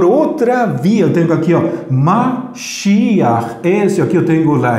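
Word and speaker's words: משיח: Então, a pronunciação vai ser Mashiach. Esta Het final vai indicar que eu devo de pronunciar primeiro la vocal, depois la consonante.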